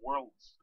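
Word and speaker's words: Worilds: the Steelers was from Worlds I think that's how you say his name it's kind of like world but with an eye in it so anyway the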